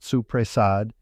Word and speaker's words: soppressata: And soppressata, the pressed salami, which every family I have ever met pronounced suppressad, and which is made from Sicily to Abruzzo with a different hand in every province.